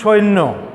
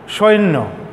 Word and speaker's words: সৈন্য: যেমন এটা একটা শব্দ, শব্দের উচ্চারণটা কিন্তু সৈন্য, সৈন্য, অনেক লোকেই বলে সৈন্যবাহিনী, সৈন্য, সৈন্য কিন্তু নয়, এখানে জফল আছে। এবং এই শটা আমরা দেখি যে কেউ কেউ ছয়ের মতো করে উচ্চারণ করে, মূলত উচ্চারণটা কিন্তু এইটা, জফলার কারণে নটা কিন্তু দুইবার উচ্চারিত হয়েছে, মূলত উচ্চারণ হবে সৈন্য।